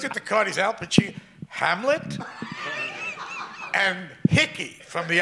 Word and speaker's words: Pacino: is, first of all, he said, Al Pacino. He pronounced my name right. That never happened. I went to a whole school, a public school. They never, Pacini, Pacuno, Pacani, that kind of thing.